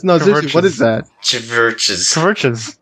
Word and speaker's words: CHVRCHES: Yeah, that's how Yeah. you say it. It's spelled CHVRCHES. Wait, do you actually not understand? No, I don't know what that is. It's a U. What? It's supposed to be a U.